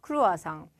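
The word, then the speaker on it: croissant: 초승달 이라는 단어에서 왔어요 초승달처럼 생겼다 라고 해서 크로아상 제대로 발음 해볼게요 리코와 썽 르 코아 쏭 이라고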